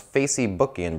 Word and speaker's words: Facebook: Humber kamacho and apparently the club's name is pronounced Facey booking Brazilian Portuguese according to Humbert we were looking